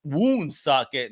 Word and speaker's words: Woonsocket: and hit up Woonsocket.